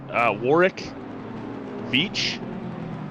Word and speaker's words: Warwick Veach: Yeah, Warwick Veach. That's how I was told to pronounce that last week.